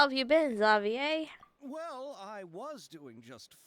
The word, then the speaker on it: Xavier: hey isn't that zavier I forgot it's pronounced zavier it's just spelled like Xavier and I knew a